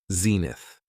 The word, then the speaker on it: zenith: It has 2 syllables, and the stress is on the first syllable, zenith.